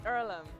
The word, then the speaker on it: Earlham: Is it pronounced Earlham? It's Erlm.